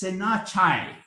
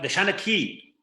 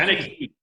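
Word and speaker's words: seanchaí: And they seem, another word I've come across is Senachai. Did I pronounce that correctly? The Shanachie. Shanachie. Okay. Shanachie, yes.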